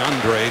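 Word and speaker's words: Andrej: We got the Andre down pat. There's a silent J at the end of that.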